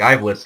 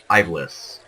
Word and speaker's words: Ivalice: they take place in Ivalice. Some people pronounce it Ivalice. I prefer Ivalice because I am an English-speaking national, and if I were to say that in my own language, it would be Ivalice.